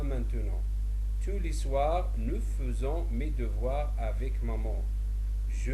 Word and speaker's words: faisons: Le verbe faire, il se conjugue de la façon suivante, je dis je fais, tu fais, il fait, nous faisons, même s'il s'écrit comme faisant, mais on le prononce faisant, vous faites, ils font.